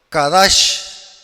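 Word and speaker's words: קדש: La palabra hebrea usada en Génesis 2:3 para santificar es la palabra hebrea que en hebreo se pronuncia Kadash, que significa señalado, ordenado, consagrado, dedicado y purificado.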